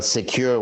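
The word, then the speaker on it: Sekur: in today's world tell us why great well secure which is spelled s-e-k-u-r is our email and messaging application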